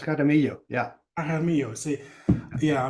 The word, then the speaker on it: Jaramillo: Am I pronouncing it right? Jaramillo. Yeah, it's Jaramillo.